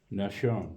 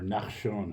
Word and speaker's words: Nahshon: And then it goes to Ram was born Aminadab, and then to Aminadab, Nahshon, or Nachshon, however you want to pronounce it.